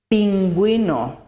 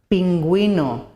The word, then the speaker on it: pingüino: However, if we want to pronounce the U, we have to use the umlaut with the vowels E and I. For example, bilingue, bilingual, bilingue, pingüino, penguin, pingüino.